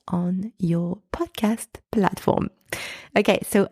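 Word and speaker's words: haut: pronounced o and finally o spelled h a u t means high or toe the letter H is silent and again the letters a and u together are pronounced o and also the final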